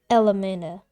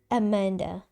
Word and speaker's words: Elmanda: My name is Elmanda, not Amanda. Say it properly next time.